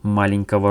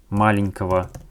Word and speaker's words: маленького: It's most important that when we use Russian adjectives, in the genitive case, we pronounce all these adjectives only like this. Маленького, not маленького, no. Only маленького. Next.